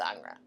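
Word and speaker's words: Ingres: artist whose name was angra spelled i n g r e which looks like anger but he's French so it's pronounced anra uh and he was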